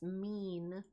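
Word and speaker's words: mien: Mean, it's pronounced mean. M I N is mean. A person's look or manner.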